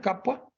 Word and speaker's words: Capua: Él tiene un viaje de placer de Roma a Capua, creo que así se pronuncia, Capua, no le veo acentos a Capua, y el camino que conduce de Roma a esta ciudad es conocido como la Vía Apia.